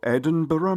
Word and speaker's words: Edinburgh: with tail you see the tattoo Royal edur military tattoo so let's let's give it correct pronunciation the Royal Edinburgh military Toto it has a lot